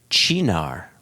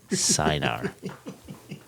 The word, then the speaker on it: Chinar: On how to pronounce Chinar rather than Sinar.